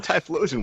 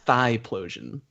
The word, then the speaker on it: Typhlosion: Like, Nah, man, Typhlosion was awesome. He's cool. My friend used to pronounce that Thigh-plosion. And my other friend thought that was so hilarious that he was That is pronouncing it wrong.